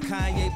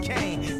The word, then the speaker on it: Kanye: It's Kanye, but some of my plastics still say Kane.